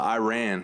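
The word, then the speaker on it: Iraan: We needed to go up to Iran. It's spelled like Iran, the country, but 2 A's, like I ran away.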